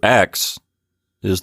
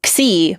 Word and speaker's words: Xi: So Xi, it's the same letter, it's just one pronunciation is more English, Xi, and one's more Greek, Xi.